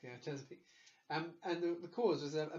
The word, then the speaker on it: Chesapeake: Chesapeake. Yeah, that's correct. Yeah, Chesapeake.